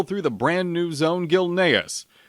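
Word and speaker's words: Gilneas: the brand new Zone Gil naus and it is pronounced gilas thank you and make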